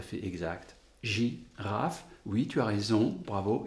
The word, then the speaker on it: girafe: Et ce E, généralement, on n'entend pas, on n'entend presque pas. Mais si on explicite, si on exagère notre prononciation, girafe, alors il y a 3 syllabes. 2 syllabes quand on le dit et 3 syllabes quand on l'écrit.